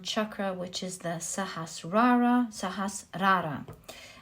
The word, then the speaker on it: Sahasrara: which is the sahasrara sahasrara is the right way i believe to pronounce it now this is the